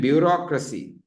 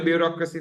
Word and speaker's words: bureaucracy: Complexity and bureaucracy. Can I spell bureaucracy for you guys? Please listen and write properly. Bureaucracy. It's pronounced one way but written a bit differently, no?